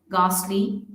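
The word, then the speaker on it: ghastly: या ये इन वर्ड्स में भी यहाँ पर भी जो है ये साइलेंट है, अगॉस्ट, गास्टली, गैटो, गोस्ट।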